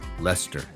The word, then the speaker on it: Leicester: everything weird like like it looks like a leicestershire but it's lester or it's uh you